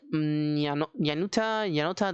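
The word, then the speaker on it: Nayuta: Now for the 1-ups, we're playing with the 1 Mathmech Billion Blade Yanuta.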